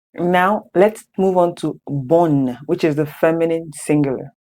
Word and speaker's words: bonne: So you see that the NE is, you do not say bonnie. Please know the E is silent, but you say bonne. That's to show you that the double N, you pronounce in the two N's, bonne.